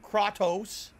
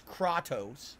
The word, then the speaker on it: Kratos: are first view of krotos pronunciation is Kratos I don't know if you